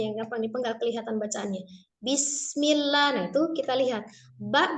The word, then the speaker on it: Bismillah: Jadi bacanya bis. Mengalir. Bis. Baknya jangan bis atau bes. Ya, jangan bes, jangan diingat tapi bis.